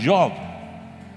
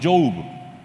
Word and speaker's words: Job: Y de pronto yo llego a la palabra Job y le llamo Job, porque así se escribe. Y no, es Job. Pero se escribe J-O-B, se escribe igual que trabajo, se pronuncia diferente.